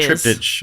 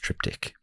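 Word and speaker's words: triptych: people who have supported us years I say trip ditch of course but I know it's actually pronounced triptic uh Dave GES a bum steer and I've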